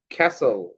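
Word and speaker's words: castle: সি এলই তাই না তাইলে এখানে এই থিটা সাইলেন্ট হয়ে গেছে এটাকে পড়তে হবে ক্যাসল ক্যাসল তারপরে এটাও ভালোভাবে পড়তে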